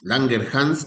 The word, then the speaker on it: Langerhans: llamar islotes pancreáticos o islotes de Langerans o Langerhs. Langerhans, así es la la pronunciación correcta.